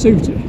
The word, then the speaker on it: Souther: And Sootyfell is spelt Souther, pronounced Souter.